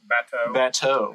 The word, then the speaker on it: bateau: And he posts this picture of his, how do you pronounce it? Bateau.